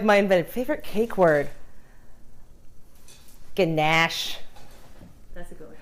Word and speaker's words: ganache: I like to say it like the Australians do. They make fun of me because I say ganache, like very posh, like Americans do, and they say ganache. And I'm like, ganache.